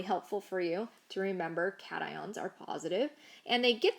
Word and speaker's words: cations: are called cations cations it is not pronounced cassians it's cations so these are the